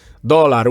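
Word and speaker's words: dólar: in the word dollar the accent is on the first syllable yes just like in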